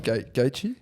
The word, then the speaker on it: Gaethje: Gaethje? Gaethje, yeah.